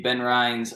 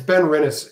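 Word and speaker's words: Benrinnes: ryan's 11 year old i don't know if i pronounced that right i think but yeah it's been it's ben rennis it like a lot of scottish distilleries unless you've heard someone say it you just you don't know right yeah and it's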